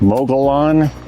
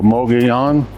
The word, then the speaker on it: Mogollon: And it was up this canyon, Mogollon. It looks like Mogollon, but the L's are Spanish pronunciation, so Mogollon.